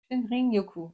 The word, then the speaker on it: Shinrin-yoku: Shinrin-yoku, hein? C'est quelque chose à prononcer.